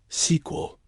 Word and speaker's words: SQL: It's usually pronounced SQL, like the next part of a story.